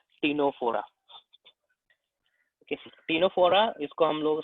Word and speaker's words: Ctenophora: ठीक है, इसको प्रोनाउंस करेंगे हम लोग टीनोफोरा।